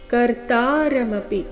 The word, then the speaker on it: ಕರ್ತಾರಮಪಿ: ತಸ್ಯ ಕರ್ತ ಮಪಿಮಾ ತಸ್ಯ ಕರ್ತಾರಮಪಿ ಕರ್ತಾರಮಪಿ ಶಬ್ದದಲ್ಲಿ ತ ಮಾತ್ರ ದೀರ್ಘ ಕರ್ತಾರಮಪಿ ಮಾ ಅನುಸ್ವಾರದ ಉಚ್ಚಾರಣೆ